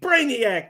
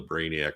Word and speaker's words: Brainiac: first showed this movie Brainiac rhymes with laugh attack thank you Jerry didn't